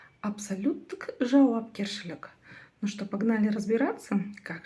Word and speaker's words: Абсолюттік жауапкершілік: Первое слово от слова абсолют. Прочитать его вам, думаю, будет очень и очень легко. Затем к нему прибавлено окончание тк.